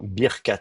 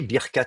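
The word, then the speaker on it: ברכת: Et donc vous êtes à l'état construit, Birkat quelque chose, Birkat Adonai, Birkat Abraham, la bénédiction du Seigneur, la bénédiction de Yahvé. Vous êtes à l'état construit et vous avez donc deux syllabes fermées, Bir, Kat.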